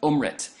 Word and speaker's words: Amrit: drinks this elixir that's called ohm rent am RIT pronounced ohm rent and this nectar is